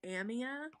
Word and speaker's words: Amia: And my great grandma's name, well, okay, so my great grandma pronounced it Amia, but I liked Amia better. But it's spelled the same.